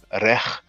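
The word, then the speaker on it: rekh: So that's arech, rech, but to make it easy, many people pronounce it rek.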